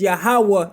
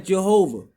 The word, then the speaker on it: Yahweh: Tetragrammaton meaning Yah, He, Va, He, which we would say as Yahweh in Hebrew, and in English you would pronounce as Jehovah.